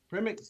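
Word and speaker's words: Przemek: your name permanently pronounced it's a z silence from me okay so um welcome to the stream first of all um so premix says hi evan do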